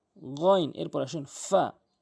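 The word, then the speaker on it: ف: এরপর আসুন ফা। ফা ফা অর্থাৎ উপরে নিচের ঠোঁটের পেট, উপরের দাঁতগুলো নিচের ঠোঁট দিয়ে রাখবেন। ফা ফা এভাবে উচ্চারণ করবেন।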